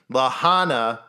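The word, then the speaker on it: La Junta: went to the Lahana which is spelled it looks like it's lega but it's Lahana camp site where of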